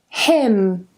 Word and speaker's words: hymn: Autumn, column, gam, hymn, and yes, this is pronounced the same as him, condemn, and the last one, government.